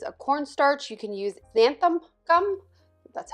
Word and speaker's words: xanthan gum: You can use xanthan gum, that's how you say it, or you could use like a gluten-free flour.